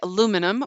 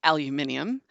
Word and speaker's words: aluminium: schedule we say schedule you say aluminium we say aluminium you say centrifugal we